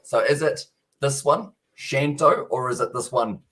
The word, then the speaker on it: Shanto: also the second one so it is actually shanto for the pronunciation i'll go with that